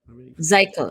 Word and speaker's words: Zichael: Zykel. It's like Zykel. Michael, but with Z.